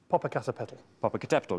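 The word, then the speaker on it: Popocatépetl: world is that right um well I knew Pap a cater petal MH um and surprisingly I know how to say it um I remember that from J frankly uh go on say it again Papa C papal yes right good okay um I have a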